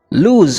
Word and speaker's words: lose: We can see that lose with double O has S as its last sound, while the lose with a single O has Z at its end.